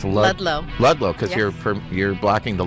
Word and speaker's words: Ludlow: all you are and how are we pronouncing your last name it's lllo cuz you're you're blocking the low part so